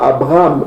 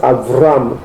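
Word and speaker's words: אברם: Donc ici la prononciation en hébreu yiddish, le B se prononce V. Eux ils disent pas Abraham, ils disent Avram. Ok. Jacob, ils disent pas Jacob, ils disent Yaakov.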